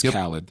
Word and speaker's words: Khaled: His name is Khaled.